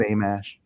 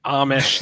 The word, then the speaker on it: Amash: I always thought it was Amish, like the Amish, like the buggy people.